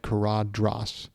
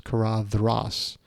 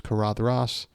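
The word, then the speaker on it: Caradhras: kadras I've always said kadras but it's kadas uh soft th like then and I think Christopher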